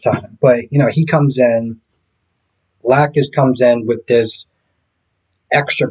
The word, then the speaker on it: Lacus: So they just started mispronouncing names, and I'm just like they called Lacus Lacouche, and I'm just like